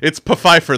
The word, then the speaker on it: Pfeiffer: No, it's Pfeiffer. The P is not silent.